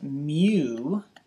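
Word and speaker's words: μ: letter, I think, is mu. Mu. And yeah, that sounds like what a cow says, moo. In math, this is a variable of some sort, and they call it mu.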